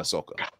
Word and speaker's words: Ahsoka: Skeleton Crew obviously Mandalorian season four yeah and Ahsoka I said it right I said I know